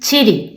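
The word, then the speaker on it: ち: we already talked about the pronunciation of this letter is not t we have to read ch ch in chy do you see the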